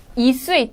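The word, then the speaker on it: 一岁: 그래서 이수의 또라고 했을 때 수의가 사성이잖아요. 그래서 앞에 있는 일자는 이성으로 합니다.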